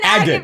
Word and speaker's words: agate: Glad to know I've been saying it wrong. It's an agate, baby.